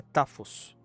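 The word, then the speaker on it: τάφος: A pronúncia é tafos.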